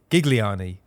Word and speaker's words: Gigliani: by another very very special guest uh Diego gigliani president of St Louis city SC welcome to